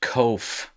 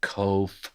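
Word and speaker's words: ק: backwards and it's pronounced kof and please exaggerate the way you pronounce it coh so that you don't get it confused with cough which is the k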